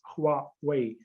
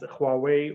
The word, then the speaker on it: Huawei: in in egypt i think you have to pronounce that as huawei that is my best mandarin as i can